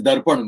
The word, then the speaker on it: Darpan: Ask me, my name is Darpan, but English doesn't have a sound. So English mein Darpan ho gaya.